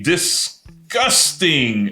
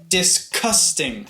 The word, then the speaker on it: disgusting: I think because of the "s," it sounds to us a bit more hard, a bit more like a "k." But it's not "disKusting," it's still "disGusting." It's very similar to the word "discuss," or "discussion."